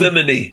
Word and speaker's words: Gethsemane: Tell me about the initial plans for Gethsemane. Am I pronouncing that right, Gethsemane? Gethsemane.